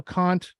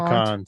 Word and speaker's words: Kant: Yes, I know Immanuel Kant. Some people Yes, pronounce indeed. it Kant, but that's not what we say here on the I show. We won't call go him that far.